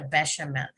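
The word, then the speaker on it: béchamel: soup based on a bechamel sauce bechamel we pronounce it a bechamel a bechamel sauce and it is a finish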